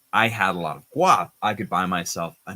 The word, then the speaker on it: guap: Zane says how to pronounce guap. No, the g, guap.